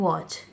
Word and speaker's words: watch: Here W is silent in wrapped, W is silent in wrist, and T is silent in watch.